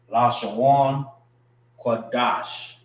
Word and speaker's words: Lashawan Qadash: Wan is pronounced together. Qua Dash. Dash is pronounced together, which means holy, holy tongue.